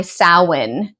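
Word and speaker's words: Samhain: is my preparations for my sin celebration sin is spelled Sam Hayne I've done multiple videos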